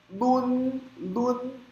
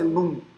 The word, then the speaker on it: lun: I, a gente fala lun, tem que fechar com N aqui, ó. Lun, não pode ser lum, não pode ser lum, tem que ser lun.